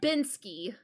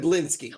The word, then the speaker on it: Blinsky: No, you you said Binsky. But then but then I corrected it and said Blinsky.